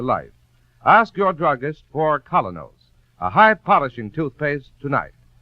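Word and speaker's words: Kolynos: business and social life ask your druggist for colonos a high polishing toothpaste tonight that's spelled k o l y n o s colos toothpaste you've been listening to Mr Keen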